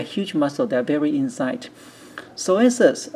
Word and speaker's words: psoas: Psoas major. Psoas, we did not talk about it in the class. We do not pronounce P, so it's called psoas.